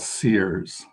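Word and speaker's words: Ceres: of the better brands out there is called sears it's like it's spelled c e c-e-r-e-s and if you go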